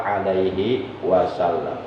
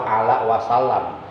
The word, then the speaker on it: alaihi wasallam: Sallallahu ala Muhammad sallallahu alaihi wasallam. Jangan sampai salah, kadang-kadang ada yang salah bacanya. Contoh bacaan salah, sallallahu ala Muhammad sallallahu ala wasallam. Jadi bukan ala wasallam, tapi alaihi wasallam.